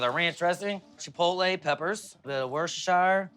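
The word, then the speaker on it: Worcestershire: Ranch dring chipotle peppers B worshire like to call it woooo cuz not everybody knows how to say it or spell it your own way is woowoo plate it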